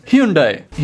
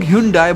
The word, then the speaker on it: Hyundai: बहुत से लोग Hyundai बोलते हैं, पर कोरिया में उसे Hyundai बोला जाता है।